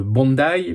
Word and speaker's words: Bondi: Le contexte, nous sommes le dimanche 14 décembre, un peu avant 19h, tout près de la plage de Bondai. Faut prononcer comme ça, a priori à Sydney où il y a beaucoup de monde.